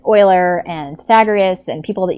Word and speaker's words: Euler: Everybody calls it, not everybody, but you'll hear people say Euler, but it's not, it's Euler. Like the defunct football team from 1,000 years ago.